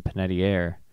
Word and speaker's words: Panettiere: Oh god, I bet it's like Panettiere, isn't it? Is it Panettiere? Panettiere. Okay, Sarah, you can't capitalize 2 syllables, or else you got to capitalize the one with the stress. Oh, you're capitalizing all of the syllables. Panettiere. Panettiere? Panettiere. That's a dumb way to say it.